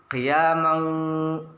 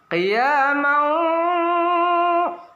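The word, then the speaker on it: قِيَامًا وَ: Banyak di antara kita membacanya qiyamau, itu kurang sempurna. Oleh sebab itu kita baca qiyamau, harus ada dengungnya 2-3 ketukan.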